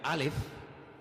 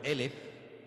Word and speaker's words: alef: o la letra, perdón, la letra alef, que se puede también pronunciar por elf, que significa 1000.